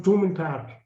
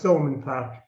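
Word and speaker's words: Thomond: have gone up to tourman park you know and that's thulman park there should be no h you know because we don't we don't pronounce our th's anyway he was a great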